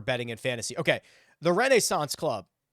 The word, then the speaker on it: Renaissance Club: Okay, the Renaissance Club, and I understand that you probably think I'm saying it weird, but that's how it's pronounced.